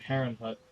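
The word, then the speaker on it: Herrnhut: his land is where the the village of heron Hut was built actually is how it's pronounced yeah either way but that's that's where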